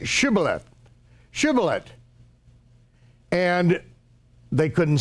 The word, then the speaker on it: Shibboleth: then they said say Shibboleth Shibboleth and they couldn't say it they could say similar silhouette but they couldn't say Shibboleth they couldn't pronounce this Sheen they could pronounce but not the sheen and so when they